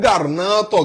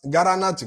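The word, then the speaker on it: Granada: ṣe ìrìn àjò ìlú kan ń bẹ ní Garnato gangan ṣé Garanat kọ́ ni wọ́n ń pe àwọn òyìnbó pronounce Garnato ní Spain.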